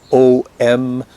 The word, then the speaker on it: Om: I mean, if you want to spell it, it's either O-M or A-U-M. That's nonsense. That's just spelling. Om. Something like this.